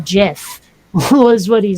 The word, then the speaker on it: GIF: about it and so he basically said it's pronounced jiff who is what he